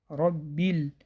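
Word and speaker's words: رَبِّ: две гласов тянем дальше Робби буква ба с тадем удваивается ро здесь читается твёрдое по причине фатха ро не ра а ро Роби здесь соединитель Хамза соединять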